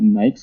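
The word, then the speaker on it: NAICS: Industry Classification Systems, or I think different people pronounce it differently, but I call it NICS code, and 3361 corresponds to automotive employment.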